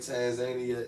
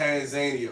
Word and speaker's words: Tanzania: so Roxalian Royalty said the way you said Tanzania is the African way, and the way your wife says it is the American way.